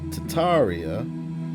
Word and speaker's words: Tartaria: Tartaria originally pronounced Tataria without the first R. So originally it's Tataria and they then later added the R to make it Tartaria.